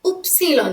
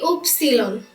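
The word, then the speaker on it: Ypsilon: হবে জলফেন বাদ্যযন্ত্র বাইনে বাকা পা উপসিলন এটা হবে কি উপসীলন উপসীলন ওয়াই হবে উপসীলন মানে হচ্ছে যোগ্য আর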